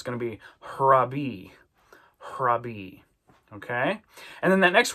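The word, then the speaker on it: ῥαββί: It means rabbi, but we're going to kind of put an h on the front of the way we pronounce that. So it's going to be harabi.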